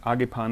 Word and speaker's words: Agepan: I don't know, I'm German, so I pronounce it Agepan the way that they say it over there.